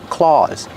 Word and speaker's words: claws: Make the aw sound like ball and call, claws.